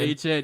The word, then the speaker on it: Etienne: I forgot that Trevor Etienne's name is actually pronounced H-N. H-N, yeah.